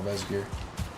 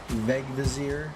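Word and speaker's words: Vegvísir: If I can find one burial chamber or an external Vesgear, Vegvizir, I think is what I figured out how it's actually pronounced.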